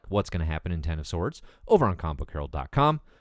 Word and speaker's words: X of Swords: dawn of X crossover X of sorts no pronounced ten of swords starting amaze Free Comic